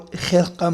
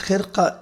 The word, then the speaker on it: Khirqah: Khirqah Mubarak or Khirqah Mubarak, it is pronounced Khirqah in Arabic, and in Persian and Urdu it is pronounced as Khirqah.